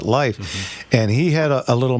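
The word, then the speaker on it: Lief: And and there used to be a guy in Glendor, his name was Life, L I E F, but he pronounced it life.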